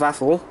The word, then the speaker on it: Atholl: Stanier in the BR Line Maroon livery, and we also have 6231 Duchess of Atholl, and yes, I have pronounced that correctly.